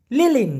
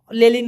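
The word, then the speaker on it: lilin: কিন্তু একরকম না ক্লিয়ার লিলিন লিলিন মানে হচ্ছে মোমবাতি কারেন্ট চলে গেলে মোমবাতি জ্বালাই না আমরা সেই মোমবাতিকে মালয়েশিয়ান ভাষায় বলা হয় লিলিন লেলিন বলে অনেকে তবে লিলিন বলা উচিত লিমা লিমা মানে হচ্ছে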